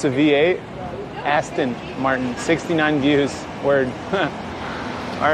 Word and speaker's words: Aston Martin: Austin Martin? It's Aston Martin.